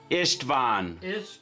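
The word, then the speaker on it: István: do you spell that i-s-t-v-a-n oh yes t v a n v a n ishtvan okay and in Hungarian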